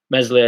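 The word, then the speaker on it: Meslier: slurry villa martin fun messily silent s made significant saves at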